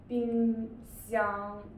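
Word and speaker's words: 冰箱: And this is xi, yi, ang, together, xiang, so together, bing, xiang, great. This means fridge, yeah, refrigerator. Okay, the next one, can I pronounce it?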